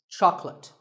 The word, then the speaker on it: chocolate: When you ask for this at the store, make sure that there are only two syllables. Choc and let. Chocolate. And remember, there's no late in chocolate.